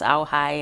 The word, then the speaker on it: Ojai: white man could come to That's say right, pronouncing Malibu. those. Anyway, so Ojai is another one. It's Auhai, and that means place of the moon.